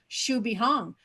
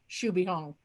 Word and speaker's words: Xu Beihong: was pronouncing it correctly so yes in fact it is pronounced should be hong so without further ado